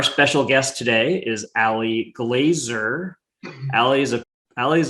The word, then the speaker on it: Glaser: if you ever read her name is pronounced glazer not glazier ali welcome tell us